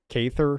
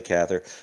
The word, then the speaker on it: Cathar: say his name brutal cathar or caither yeah but he doesn't yeah i say cathar but i think people some people say cather he does an exile